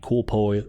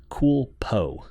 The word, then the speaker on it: CoolPo: tracking I think the cool pull here with the mini light that this is going to be a great option for you I keep wanting to pronounce the name coolpo there we go because I keep trying